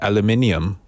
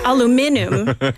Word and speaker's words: aluminum: Wait, you know how do you pronounce aluminum? Is it aluminium? That's British aluminum. American is aluminum, right? And Canadians also aluminum.